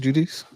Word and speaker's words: Judice: Uh, Carly Judis, is that how you say her name? Judice. Yep. I thought so.